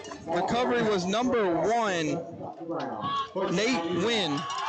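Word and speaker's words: Nguyen: Nate win Nathan Nigen I think it's pronounced win okay win the senior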